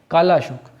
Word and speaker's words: कालाशोक: अब जब इसको हम उच्चारण करते हैं काल अशोक, तो ये कालाशोक मिलता है, ठीक है।